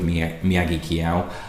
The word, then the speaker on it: Miyagikyo: I'm going to go with Miyagikyo as pronunciation. A few people, fortunately, really nice people, have come back and said that is what it should be. It just doesn't sound right